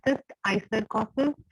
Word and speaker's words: cysticercosis: Then is cystic cyst icercosis, इसको ऐसे ही pronounce करते हैं cyst icercosis, and it is caused